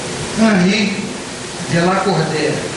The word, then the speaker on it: Henri de Lacordaire: E lá tem uma mensagem que é assinada por um espírito cujo nome é Henri de Lacordaire, usando aí a pronúncia francesa.